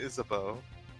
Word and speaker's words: Isabeau: No, is it just me or should her name, like, I see her name and I want to say, like, Isabu, right? Isabu. But it's like they pronounce it Isabeau.